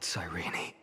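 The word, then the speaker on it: Cyrene: day and before my eyes that murderer killed sirene that's how you pronounce her name but I saw its form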